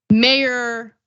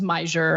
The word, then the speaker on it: Meijer: his name, but I didn't know how to pronounce his name correctly until today. I kept thinking it was Mayor. I never thought it was Meyer.